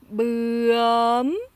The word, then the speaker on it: bướm: Là, c'est bươm. Alors, le U et le O ici, avec des crochets, en fait, ça indique la manière de les prononcer. Donc, le U ici, ça fait U. Vous voyez, il y a le menton là qui va un peu plus en avant. Et le O ici, c'est E.